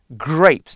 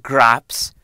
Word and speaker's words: grapes: That's how you say it, grapes, not graps, grapes.